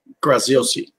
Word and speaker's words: Graziosi: Dean, and I don't even positively know how to say his last name, Graziosi? Graziosi.